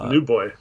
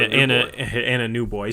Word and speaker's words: Anunoby: OG Anunoby, otherwise known as OG Anunoby, it's a new boy. And a new boy.